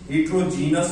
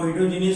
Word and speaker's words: heterogeneous: ये स्पेलिंग में याद रखा करें बेटे, ये अक्सर स्टूडेंट्स हेट्रोजीनस बोलते हैं और ये इस ई को छोड़ जाते हैं, जिस वजह से वो स्पेलिंग गलत हो जाते हैं और खुदा खासा मार्क कटने का चांस हो जाता है। इसलिए चांस मत दें और यहाँ पे स्पेलिंग इस वर्ड को भी ठीक बोला करें, हेट्रोजीनियस, और लिखा भी